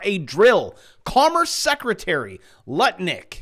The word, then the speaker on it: Lutnick: Commerce Secretary Lutnick, which rhymes with Lick, just confirmed that the Trump administration is looking to abolish the IRS.